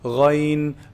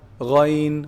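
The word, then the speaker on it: غ: So Ghayn is pronounced from the top part, the highest part of the throat, the closest to the mouth. Ghayn, agh, Ghayn, ghayril maghdubi alayhim. That's the Ghayn.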